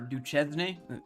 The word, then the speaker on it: Duchesne: Can you pronounce Tooele? Yeah. Tooele, yeah, because we Tooele. live in Utah. Or Duchesne?